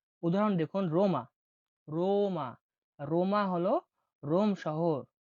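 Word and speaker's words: Roma: পরবর্তী বর্ণটি হল আর উচ্চারণ হয়ে থাকে রোলিং। রোলিং মানে কি? মোটা গোল হবে। র উচ্চারণ দেখুন। উদাহরণ দেখুন। রোমা রোমা।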